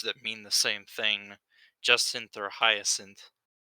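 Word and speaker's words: Jacint: go with that also i'm pretty sure that's pronounced justin so that that ends uh that into my turn j a c i n t yeah justin okay so the c makes the s sound yeah all right sure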